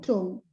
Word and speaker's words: tomb: How many silent B letters? 4. Let's count. Yeah, 4. Where are they? Where is the first? Bomb, climb, tomb.